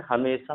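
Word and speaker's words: hymn: देखो एन जो है जब भी एम के बाद होगा, यानी एम के बाद अगर एन होगा एम के बाद, तो एन हमेशा साइलेंट होता है। जैसे यहाँ पर हम पढ़ेंगे autumn, column, condemn, हीम, डैम, यहाँ एम के बाद एन है, यानी एन यहाँ पर साइलेंट होगा।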